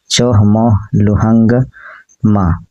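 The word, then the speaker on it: Chomolungma: चोमोलंगमा का उच्चारण चोहमोलुहंगमा होता है।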